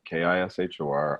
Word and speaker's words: Kishore: find me at.kishore just like it's spelt sounds kishor on uh instagram facebook